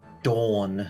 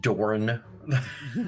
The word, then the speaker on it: Dawn: The Bell of Dawn, not Dorn.